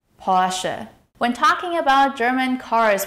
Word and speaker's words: Porsche: In German, the stress is on the first syllable. Porsche. Porsche.